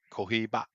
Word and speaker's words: Cohiba: Actually, they're all cohibos. Kohiba. Cohiba. Is that how you say it? Kohiba.